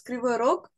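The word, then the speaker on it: Кривой Рог: In Russian, it's Kryvyi Rog. Kryvyi Rog. in Russian. In Ukrainian, it's Krivy Rig.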